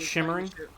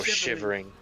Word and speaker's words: Shivering: Which is shimmering. No shivering. I'm having a bit of Mandela myself. I could have swore it was shimmering. Nope. No, you just kept pronouncing it shimmering.